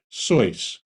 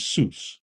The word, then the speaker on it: Seuss: his mother's maiden name he and his family pronounced it the German Way so but to the world he's Seuss he soon added the